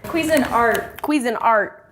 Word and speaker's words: Cuisinart: Cuisinart, yeah, that's how you say that. We pronounce it Cuisinart for some reason, or we have for too long, so we're trying to correct it.